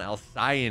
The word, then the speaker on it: Alcyone: Drop me a follow over there as we take a look at what's happening on Alcyone, which is apparently the way you pronounce it.